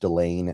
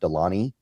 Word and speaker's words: Delane: I think it is pronounced DeLaine, not DeLaney.